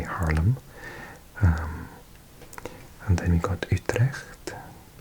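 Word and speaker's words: Haarlem: budding Dutch speaker so I'm going to try and pronounce them properly and not say Harlem but say Harlem um and then we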